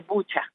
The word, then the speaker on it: Bucha: En primer lugar, de la pregunta que se hacían hace poco, se dice Bucha. Yo ayer me metí a mirar a ver en ucraniano cómo se pronuncia y se pronuncia en efecto Bucha.